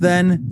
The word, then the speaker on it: ye: The best part of ye is that it was pronounced then the.